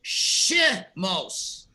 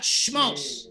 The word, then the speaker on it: Shemos: beginning of a puzzle you stress the sound of the two dots which is so therefore you pronounce it shi mos not schmos schmos is incorrect just